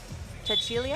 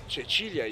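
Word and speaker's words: Cecilia: They've got Andre, Jasmine Keys, as well as the captain, Chachilia. Am I saying it right? Chichilia.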